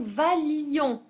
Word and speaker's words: valions: tu Vailles qu'il vaille que nous alors attention que nous valions on supprime le I et on supprime un L la prononciation valion que vous valiez et